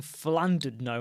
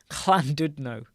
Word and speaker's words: Llandudno: So I've been saying Llandudno and I've got it wrong. Llandud. La la la la la la la la la la la la. Llandudno.